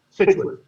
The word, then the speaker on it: Scituate: And you did a great job in my town pronunciation. A lot of people do not get that. Scituate.